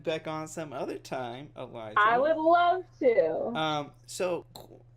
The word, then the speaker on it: Elijah: Okay, it's the letter L, the letter I, and then J. J-U-H. That's not how it's spelled. That's how you pronounce it. So L-I-J. Elijah. Yeah. So it's not Elijah. Right. It's Elijah.